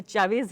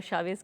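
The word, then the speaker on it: Chávez: और बार बार जब आप चावेज कह रहे हैं तो ये बात समझ में आती है कि किस तरह से उनके नाम का बिल्कुल गलत जो है प्रोनाउंसिएशन भारत में भी हुआ है, वो असल में चावेज ही है जिसको हम बार बार शावेज कहते हैं।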